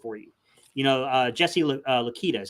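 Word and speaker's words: Jesse Luketa: could play both for you you know uh jesse lakita is how you say his name from penn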